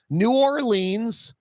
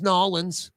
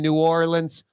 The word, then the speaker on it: New Orleans: and no one says noin no one says two syllables noin no one there's no new orle in anywhere n Frank Davis naturally